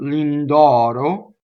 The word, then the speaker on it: Lindoro: so ailing dog so here we have a stress though in the name lindoro lindoro and it is open notice the final load is closed right so a lingle